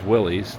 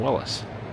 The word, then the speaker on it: Willys: and a 40s Willys truck or Willless, sorry. Uh I guess the although known as Willies, the uh the gentleman who founded the company pronounced his last name Willis.